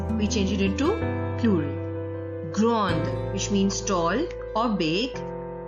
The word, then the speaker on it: grande: I'll repeat again that these consonants, the S added at the end of the plural form of the adjectives is silent. We will not pronounce this S. That is why the plural form also remains same in pronunciation with the singular form.